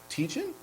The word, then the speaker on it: Tietjen: Everybody, give a warm welcome to Justin Tietjen? Yeah. Low voice. Yeah. Did I pronounce it right? Tietjen? Yeah, Tietjen.